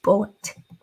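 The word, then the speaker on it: Bulleit: l l e i t but it is pronounced bullet yeah I think bullet even has a YouTube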